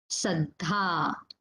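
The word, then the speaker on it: saddhā: Then the next word is saddha. Saddha. This last a is there, long a.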